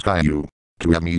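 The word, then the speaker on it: Caillou: The sixth word that triggers a bug in my voice software is kae-lou. It's supposed to be pronounced as kai-yew.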